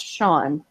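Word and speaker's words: Seán: language so that come like Sean spell s an is it has roots in the Gaelic language and that's why it spelled Cen and pronounced Sean yeah because they're on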